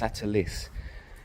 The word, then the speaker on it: Satelis: is a Puro satelles I believe it's pronounced sellis um I've been in my head I've been saying satellite it's a pero sellis this